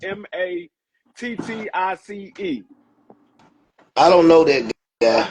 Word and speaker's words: Mattice: I can't pronounce his last name. It's Mattice.